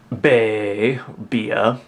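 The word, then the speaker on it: Bea: light to reflect off of it vivid voltage bay bia as uh she's more correctly pronounced and of course the one and only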